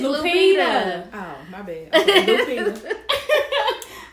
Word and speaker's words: Lupita: I thought it was Lupita. Lupita. Oh God, Sheeta, you butchered everything. It's Lupita.